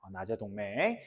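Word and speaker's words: 나제 동맹: 신라의 라짜 백제 제자인데이 라짜가 우리나라 두 법칙상 맨 앞으로 오면 나로 발음을 바꿉니다. 그래서 우리가 신라와 백제 사이의 동맹을 낮재 동맹이라고 불러요. 낮재 동맹.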